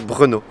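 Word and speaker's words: Brno: grande ville du pays et bruno s'écrit brn aux dons pour prononcer tu prends un prénom de beau gosse tu parles moi prendre comme comme bruno kwast et enlève le bus a fait brenot voilà donc brûlot ces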